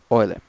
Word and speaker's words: Euler: Mesmo escrevendo Euler, se pronuncia Euler.